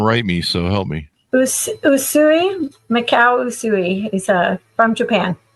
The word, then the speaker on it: Usui: Am I pronouncing the UC Reiki? People are going to write me, so help me. Usui, Mikao Usui.